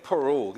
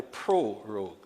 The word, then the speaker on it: prorogue: You know, many times the pronunciation and people miss the first R and end up saying prorogue. It is actually prorogue.